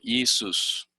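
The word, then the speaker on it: Ἰησοῦς: Entonces, esta es la forma griega del nombre que sale y que se pronuncia como Isus.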